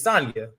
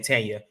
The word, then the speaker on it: Sanya: pronounce it thank you right it's sonia it's time i keep saying tanya and then you got